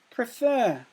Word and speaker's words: prefer: end and add ER prefer prefer has two syllables if you clap at prefer two syllables does it follow the rule the second to last letter is a vowel and the last letter is a constant and the final syllable is stressed fur it is stressed so you can apply